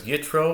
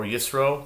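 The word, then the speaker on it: יתרו: This is Article 17, because Yitro or Yisro, depending on your pronunciation, is the 17th Torah portion in the cycle of the Torah readings.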